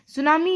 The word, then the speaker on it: tsunami: इट is pronounced as सोनामी, मतलब इसको pronounce किया जाता है सुनामी के नाम से.